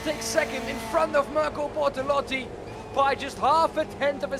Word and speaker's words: Mirko Bortolotti: Rafael Renhofer takes a massive step back ahead of Mirko Bortolotti, as I finally learned how to pronounce that.